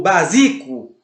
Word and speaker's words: básico: Você não diz básico ou básico, você diz básico. E você percebe que então a antepenúltima por que eu estou repetindo tanto assim, gente? Porque à medida que eu repito várias vezes e que você exercita isso na sua mente várias vezes, você acaba gravando. Então eu digo básico, é uma proparoxítona e você não pode esquecer disso.